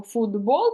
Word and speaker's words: футбол: асиміляцію це уподібнення приголосних як ми в вимові кажемо футбол через д а пишемо через Т ось оце вам потрібно